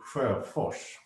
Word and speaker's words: Per Sjöfors: Well, if you would do it in Swedish, it would be Per Sjöfors.